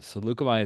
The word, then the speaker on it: Saleucami: We are playing on the planet known as Salucami, which looks like Salucami to my my Americanized brain, but Salucami is how I heard it pronounced on a Clone Wars episode, and that's what I'm going with.